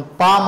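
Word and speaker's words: palm: आल्यामुळे उच्चार होतोय एल सायलेंट वर्ड येतो ना त्याच्यामध्ये पाल म्हण त्याला आपण पाम असा उच्चार करतोय पाम काम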